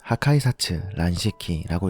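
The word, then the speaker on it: 破壊殺・乱式: 일본어로는 하카이사츠 란시키라고 읽습니다.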